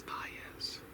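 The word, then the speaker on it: Baez: Um I always pronounced his last name incorrectly when I was a child. It's spelled B A E Z. I always thought it was B or B, but it is bias.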